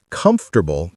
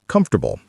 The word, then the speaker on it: comfortable: She compressed comfortable into comfortable.